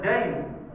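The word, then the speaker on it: دَيْن: saja membacanya yang berbeda hutang di dalam bahasa Arab itu dibaca Dain sedangan agama dibaca Din sama-sama memiliki tiga unsur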